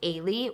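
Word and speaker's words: Eilidh: And her name in the book is spelled Eildh. I had to actually get the audio version so I could understand how her name is pronounced, but it's pronounced Ailey, which is like such a beautiful name.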